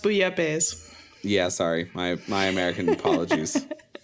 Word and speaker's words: bouillabaisse: Also, it's pronounced bouillabaisse.